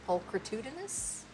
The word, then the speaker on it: pulchritudinous: I want to see, because I'm not sure about that CH. Pulchrit, I'm saying it like a hard C. Pulchritudinous.